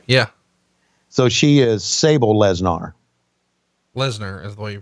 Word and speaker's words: Lesnar: So she is Sable Lesnar. Lesnar is the way you pronounce her name.